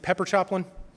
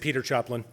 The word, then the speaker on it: Pepper Choplin: butchered the guy's name was it pepper choplin pepper choplin I said Peter choplin sorry Pepper Pepper's actually a really nice